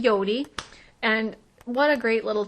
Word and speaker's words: Jodi: Yodi it's spelled um j o d i I believe but so it look like Jodi to us but her name is actually Yodi and what a great